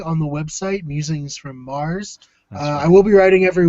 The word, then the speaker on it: Meagher: Now, please explain to everyone who sees your name spelled Meagher why you pronounce it Mars. Well, the short answer is I don't know. And the long answer is I really have no idea. But it's just, I don't know, it's just an Irish name, and my family is very Irish, and it's just pronounced like that.